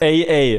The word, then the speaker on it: AA: AA. These words exist, and it's the way you would say the letter A.